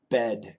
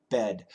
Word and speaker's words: bed: podcast number one yeah bid bed short I short e bid bed I'm coach Shane's USA